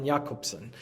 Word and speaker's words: Jakobson: He was actually originally from Russia, and so growing up, his name was Jakobson, which is how you say it in Russian.